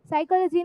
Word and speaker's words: psychology: We students is like normal psychology now. Sycology something, some S something starting with S was a spelling. But later when we understood, it was not S, it was P. P is silent.